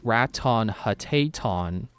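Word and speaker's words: Ratonhnhaké:ton: like Raton Hateton, but listening to how they pronounce it, it sounds like the T sounds are D, and I know there's another consonant in there that doesn't, that they don't say it how it's written. It's if you listen to how they say it, it actually sounds more like Radon Hagedon.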